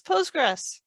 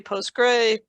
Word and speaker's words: PostgreSQL: so Cosmos DB loves postgres all right so how do you say it you hear me say postgres you may say post gray postgresql SQL however you choose to say it for ease of